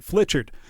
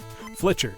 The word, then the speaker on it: Fletcher: glasses probably need updating sorry that I've been saying your name wrong all night Fletcher got it have a good one